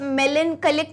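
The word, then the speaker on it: melancholy: I hope मेलनकलिक का मतलब पता होगा, अभी पीछे ही मैंने बता दिया था। मेलनकली का मतलब है ना, अनारकली और मेलनकली सेम प्रोनाउंसिएशन आता है, ठीक है।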